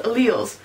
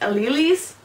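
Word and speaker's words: alleles: genes those two versions are called Al and if a creepy Asian guy tries to convince you that it's pronounced ales don't believe him then you have genotypes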